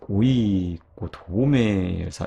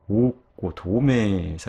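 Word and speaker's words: ᾠκοδόμησα: 고전 헬라어 시대에는요, 이게 이 이오따도 발음을 했어요. 그래서 오이고 도메사 이런 식으로 발음을 한 거예요. 그런데 코인의 헬라어 시대에 들어와서는 이렇게 장모음 다음에 오는 이오따를 더 이상 발음해 주지 않게 되었고, 그래서 이 아래 이렇게 흔적만 남겨놓은 것이죠. 그래서 읽을 때는요, 오고 도메사 이렇게 읽어야 하는 거예요.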